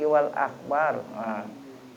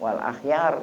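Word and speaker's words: والأخيار: Walam yazalil akabiru minasyuyukhis salikina kulit tahqiq wal akhbar. Wal akhbar ini 198. Wal akhyar itu bukan akhbar itu, ya. Akhyar, bukan titik. Makanya saya ragu-ragu bacanya kok wal akhbar, benar itu wal akhyar.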